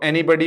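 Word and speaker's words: anybody: याद रखना दोस्तों, इन दो का प्रोनाउंसिएशन बॉडी होगा और बाकी का बडी होगा।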